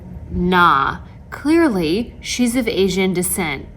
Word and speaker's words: Nga: client shaming my favorite thing this is not n-g-a nah clearly she's of asian descent it's pronounced not for whatever reason throughout the entire